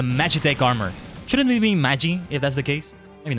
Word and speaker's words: Magi: Funny enough, only until recently did I realize it's supposed to be pronounced like that. Because it's based on mage. Mage in plural is Magi, but yeah.